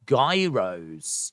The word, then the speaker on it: gyros: know days more uh Gyros are pronounced Gyros oh I didn't know